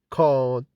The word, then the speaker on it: card: The pronunciation of R in British English after a vowel. The R is not pronounced in British English. Accent is called non-rhotic because the R is not pronounced after a vowel, like in car, card, boat, hear, and heard.